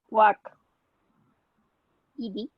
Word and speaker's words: walked: Yeah, that T sound. Walked. Walk. So it almost sounds like if you write it this way, Walk. just with T at the end.